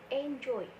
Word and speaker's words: enjoyed: Nah, untuk cara pengucapannya itu ed-nya dibaca menjadi d, sehingga enjoy ketika ditambahkan ed, cara pengucapannya itu menjadi enjoyed. Selanjutnya adalah contoh pray.